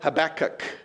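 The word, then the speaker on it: Habakkuk: look at the prophet habach and if you really want to say it right you get that nice little curl in the back of your throat as you say that double K right and and you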